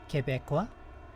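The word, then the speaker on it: Québécois: Um that it is pronounced Kebeekqua.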